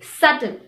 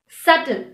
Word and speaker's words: subtle: in this word subtle we do not pronounce the letter b when it comes before nt we say subtle subtle other examples are debt